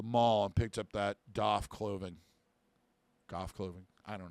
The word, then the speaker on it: Daith: way or another um according to him the correct is doff as in uh uh you know as a goth like you know he went to the mall and picked up that doff clothing golf clothing I